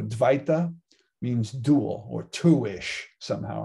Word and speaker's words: dvaita: dualistic or dualism and remember that the v can be pronounced as a w so dui duo in italian or dos in spanish or duel in english right it comes from the sanskrit dwita or dvaita means dual or two-ish